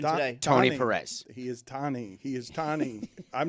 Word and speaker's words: Tony: played his entire career being called Tony, even though his name is Tani? He never corrected anybody. Really? No, but that's like Milano. No. Or Roman Roma. Nope. His name is spelled Tony. Nope. It's not. It got Americanized. Okay. It's like Antanosio or something. It's Tani. It's not Tony. It's not Tony. His name is not Tony Perez.